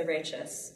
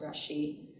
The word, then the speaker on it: rachis: The center part here is the rachis, sometimes pronounced rashi.